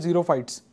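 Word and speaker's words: xerophytes: इ luck of water they are called जीरो फाइट्स and they are spelled x ई आर O same S द कार ट वास name Xylo है ना उसमें भी हम इसको ऐसे ही प्रोनाउंस करते हैं तो दिस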